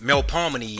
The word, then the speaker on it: Melpomene: Its former structure was the Melpomene, which is actually pronounced Melpomene and is documented as the Gus High Rise.